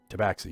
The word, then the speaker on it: tabaxi: man i'm a cat man you're a tabaxi tabaxi yeah you said it right it's good yeah